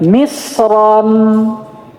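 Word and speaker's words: مصرًا: Karena kalau dia ditanwin misron, bagaimana cara bacanya ro di sini? Tebal. Dan ini kata beliau apa tadi? Fala khilafa tidak ada perselisihan. Kalau misra ditanwin itu wajib dibaca tebal.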